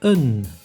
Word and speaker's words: een: The only exception of two A's, not pronounced as A, is in the article een, which means a.